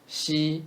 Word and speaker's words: 细: 空气 Xi is sh, sh sound with flat tongue.